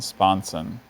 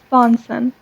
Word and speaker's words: sponson: see just the one sponson sponsen that last vowel sound is the schwa always the deadliest possibility